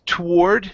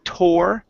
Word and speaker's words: toward: Next is the word toward. Okay, so some people pronounce this toward. They pronounce the to sound. I say toward. Toward.